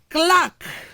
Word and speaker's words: clerk: Example, we have star, we have clerk. For some of us that pronounce this word as clerk, it's actually very, very wrong. The correct thing is what? Clerk.